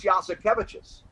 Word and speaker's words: Jasikevičius: He said, is it like, yes, we have cabbages?